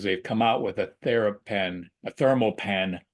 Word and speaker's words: ThermoPen: and get you a TheraPen. Get the name wrong. I say it all the time. It's a ThermoPen.